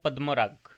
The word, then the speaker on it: পদ্মরাগ: বানানটা বলুন দেখি ইংলিশে উচ্চারণটা হবে পদ্মরাগ একজন বলুন দেখি